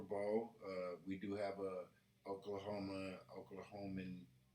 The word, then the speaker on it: Oklahoman: We do have a Oklahoman? Oklahoman?